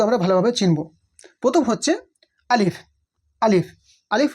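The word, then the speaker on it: ألف: অনেকেই আলিফ উচ্চারণ করে আলিফ বা আলিফ। আলিফ এগুলো এই ধরনের উচ্চারণ হবে না। বরং সিম্পল উচ্চারণ হবে আলিফ।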